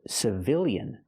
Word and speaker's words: civilian: change the word to civilian when now the stress changes the stress is on the second syllable so we use the short I sound like this is civilian